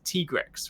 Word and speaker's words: Tigrex: Because technically speaking, from Japanese pronunciation, it's Tigreksu. So I call it Tigrex. And then they officially pronounced the other day that it is Tigrex, right?